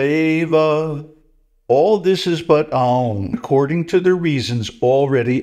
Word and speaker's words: Aum: So the letter Aum is a merger of three other letters, A, U, and N.